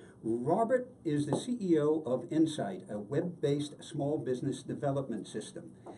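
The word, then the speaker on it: Ensyt: And by the way, Insight is spelled E-N-S-Y-T, Insight.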